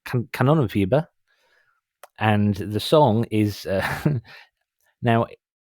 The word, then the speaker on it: Kanonenfieber: It's Kanonenfieber. It's a German band. Kanonenfieber. Kanonenfieber.